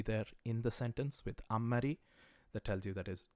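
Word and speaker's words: あんまり: you hear me say ammari and not anmari it's because I'm trying to mimic the pronunciation as a native person would say it alternatively just Amari don't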